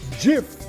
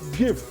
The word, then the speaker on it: GIF: everybody zoom into here it's pronounced jiff not give I digress because what